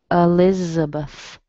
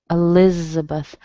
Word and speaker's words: Elizabeth: So you don't really hear Beth, do you? You hear Beth, Elizabeth, Elizabeth.